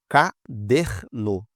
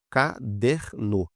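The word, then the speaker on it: caderno: Olha só, ca der no, ca der no. Última sílaba, penúltima. Se essa aqui foi a mais forte quando a gente fala, olha, ca der no. Então ela é paroxítona.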